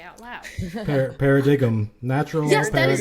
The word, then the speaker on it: Paradigm: Paradigm. Natural Yes, paradigm. that is exactly what my brain says every time. And I have Every time it comes up. Yep. You put the emphasis on the wrong syllable.